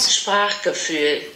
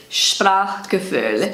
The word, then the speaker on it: Sprachgefühl: Sprachgefühl. Let me know about my pronunciation, by the way. And this is how it's pronounced on Google Translate. Sprachgefühl. Sprachgefühl.